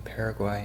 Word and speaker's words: Paraguay: In English we call them Paraguay and Uruguay. But the U in Spanish is pronounced U, so that's why they sound a bit different.